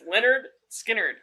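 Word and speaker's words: Lynyrd Skynyrd: Christ lyard skard lyard skard what I know it's spelled weird but it's Leonard skinnard that's it Freebird man Leonard skard even one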